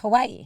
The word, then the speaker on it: Kauai: How do you say that? Kauai. There's no W in there. I know, but it's Hawaiian. It's Kauai.